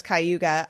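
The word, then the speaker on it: Cayuga: know where that is yeah you pronounced it right well I know it's kuga uh yeah is it's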